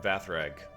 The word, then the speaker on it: Vathrag: There's no L in there. Just notice this. Feldrim Vathrag. I've been saying his name wrong this entire time.